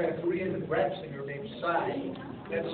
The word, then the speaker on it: PSY: was done by a Korean gra singer named Sai that's spelled PSY and this particular song was so